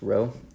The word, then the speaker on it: Rho: so density is this Greek letter Rho pronounced Rho and it's just the